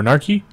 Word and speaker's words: A_Narchy: and today I have a gnar chi or narky Oh way that's how you say his name in his e 100